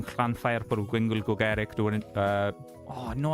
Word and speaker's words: Llanfair: but it starts with Llanfair. It's very long, or Llanfair as well, as how actual Welsh people pronounce it, but I'm not from fucking Wales, so I can get away with it.